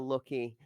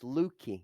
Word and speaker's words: Lucky: Going into Sicario's Kiyoshima, Lucky, which, to correct is pronounced as if it has two O's and one K. So it's Lukey.